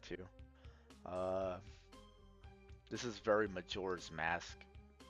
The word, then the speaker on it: Majora: Uh, this is very Majora's Mask. Majora, right? Yeah, I always pronounced that wrong as a kid.